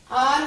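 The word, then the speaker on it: hour: Half विच L silent है, चौक विच भी L silent है, आर विच एच साइलेंट है और वॉच विच टी साइलेंट है।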